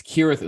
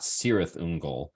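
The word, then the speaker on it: Cirith: but I agree yeah it's kirith Uncle not siruth and do you have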